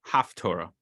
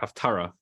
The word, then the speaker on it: haftarah: second um it was enacted to read the half Torah the half tour does not mean the half Torah a lot of people it's a misunderstanding um the word is actually pronounced properly as you see here haftarah that's uh we call it of Torah also